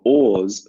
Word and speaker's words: oars: the lake and your oars fall in the water Oh strange word in their paws what are oars the pronunciation is exactly the same as or meaning tea or coffee